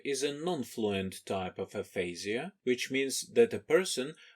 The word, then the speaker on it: aphasia: Ukrainian term Aphasia and it's pronounced as Aphasia in American English most often they are